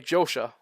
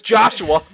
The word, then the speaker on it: Joshua: Hey, Josha. Josh? What the... Wait, what the... we'll be right back, folks. Alright, you found out how to pronounce that name. It's Joshua.